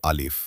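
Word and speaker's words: ألف: প্রথম হরফের নাম হলো আলিফ আলিফ দেখতে লাঠির মতো সোজাসুজি একটি টান আলিফ উচ্চারণ করতে হলে আপনাকে উপরের দুটি দাঁত নিচের ঠোঁটের পেটের সাথে লাগাতে তাহলে আলিফ আদায় হয়ে যাবে।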